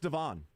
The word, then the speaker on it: Devon: yeah no it's uh it's pronounced Devon yeah it's very surprising